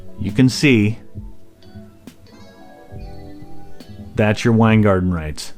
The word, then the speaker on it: Weingarten: union shop and that's called wine garden right that's wine garden think of beer garden but with wine wine garden it's spelled differently but whatever what wine garden is